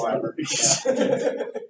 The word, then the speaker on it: Leiber: It's Leiber? I've been pronouncing that wrong my whole life, too. Yeah, it's Leiber. These things you read but don't hear people say, right?